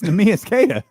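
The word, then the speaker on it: Neemias Queta: Boston backs up how you say his name me is kada yeah yeah k right kada almost almost it's I don't know can he not hear me it's nus kada now I hear you okay all right thanks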